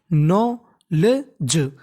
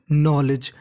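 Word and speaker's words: knowledge: ना पढ़ना होता है के हमारा साइलेंट रहता है यानी के का उच्चारण नहीं करते तो क्या बन गया हमारा नॉलेज नॉलेज डीजीई का मतलब क्या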